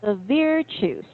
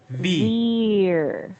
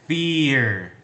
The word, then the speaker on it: virtues: Veer. Fear. It's not fear, it's a V. Veer.